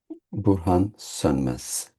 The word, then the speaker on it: Burhan Sönmez: Burhan Sönmez Burhan Sönmez.